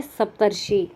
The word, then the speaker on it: सप्तर्षि: इस र का उच्चारण जो है इस शी से पहले होता है, इस तरह से ये बन जाता है सप्तर्षि।